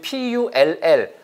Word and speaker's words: pull: 그런데 pool처럼 발음되고 얘가 짧잖아요. 그러면 P-U-L-L. 아까 위에 것도 fall. 이것도 P-U-L-L은 pull. 그거는 당기다는 뜻이죠.